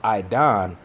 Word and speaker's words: Eden: And when you go into Eden, or how it's pronounced Idon, that's really talking about the whole planet.